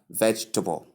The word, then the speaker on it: vegetable: It's only split into three syllables.